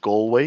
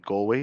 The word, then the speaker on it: Galway: And then I name dropped a few GP surgeries in Galway. You pronounce it Galway. I used to pronounce it Galway before I had customers there.